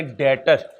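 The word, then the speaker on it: debtor: है वहां पर लिखे डेटर जिसमें बी साइलेंट होता है डेटर डी ई बी टी ओ आर डेटर वो जो 10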